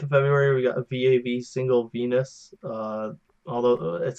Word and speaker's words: VAV: how to pronounce it because I thought it was pronounced Vav.